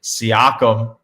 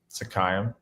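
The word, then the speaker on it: Siakam: How do you pronounce it? I I have a This is my Mandela effect. I will say my Mandela effect. You always say whatever the hell you just said. Sakayam. It's Seakkum, right?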